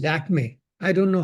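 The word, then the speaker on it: Lakmé: But the French, as they pronounce, they couldn't pronounce the Lakshmi, and they called it Lakme. And that's how the word Lakme, or Lakme, as we call it today, was created.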